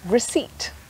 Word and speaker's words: receipt: or polar bear but sometimes appear the beginning of a word is silent like in some medical words like psychiatrist or psychologist or there can be a silent p in the middle of a word like receipt sometimes the letter p